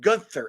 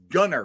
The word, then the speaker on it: Gunter: So for the record, it's not Gunther. It's Gunner, right? That's right. You said it right. I got Gunner, it right. not I Gunther. got that right. No TH. Yep.